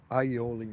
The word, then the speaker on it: aioli: Alioli usually. Aioli, if you want to pronounce it properly.